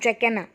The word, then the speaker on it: Dracaena: We pronounce this as Dracaena.